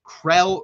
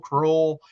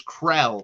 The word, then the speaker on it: Krell: which is the Jake Krell recruitment. I know some people have pronounced it Kroll. It is Krell. That is how you pronounce the last name.